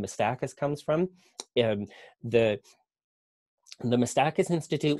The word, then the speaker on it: Miistakis: There tends to be fairly universal agreement that the pronunciation is wrong, but there is no agreement on exactly what the right pronunciation is. So we say Miistakis.